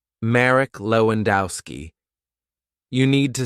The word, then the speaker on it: Lewandowski: We can divide the hotel guest's name like this: Marek, 2 syllables; Lewandowski, 4 syllables.